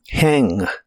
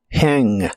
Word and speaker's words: hang: de inglés es hang la H suena como una J suave de español y la a se pronuncia con el sonido que es la combinación de e y a hang hang no es necesario que termines el sonido de la g del final no digas hang di